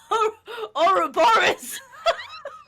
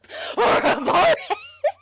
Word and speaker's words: Ouroboros: oh, Ouroboros. Ouroboros.